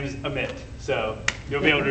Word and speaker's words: Amit: And anyone else who might be embarrassed later to mispronounce my name. This is a glove and my name is Amit.